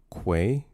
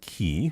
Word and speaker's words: quay: It's pronounced quay. Say it with me now. The Q? With a Q. Quay. Yes. One more time. Quay. Not Not what? key. I don't know who says key. It's quay.